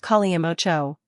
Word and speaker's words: Kalimotxo: Kalimotxo, pronounced Kalimotxo, is a popular Spanish drink that originated in the Basque region.